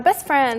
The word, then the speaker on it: best friend: It's like my best friend. Best friend. And usually we like take out the T and it's like best friend.